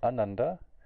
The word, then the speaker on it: ananda: So there's a big difference between Ananda and Ananda. Right? Ananda means joyless. Ananda, on the other hand, means pure bliss. So that one little extra meter of rhythm in the beginning there, the A versus it turns joyless into blissness. That one little swara makes that big of a difference.